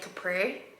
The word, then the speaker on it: Capri: Obviously they're spelled the same, but I say Capri Sun, but then I say Capri, like the place.